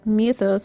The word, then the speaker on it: mythos: Logos, where Ultima uses mythos, or mythos as they pronounce it in this game, to describe the vessel